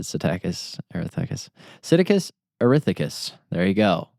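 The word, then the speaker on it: Psittacus: I pronounce it probably weird. People might say Siticus arithcus or some spell like casting a spell. I say Siticus. You say Siticus. Yes. I guess I over pronounce it, but I've always said Satakus.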